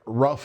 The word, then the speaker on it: rough: Um, there's words like rough and tough where it's pronounced UF.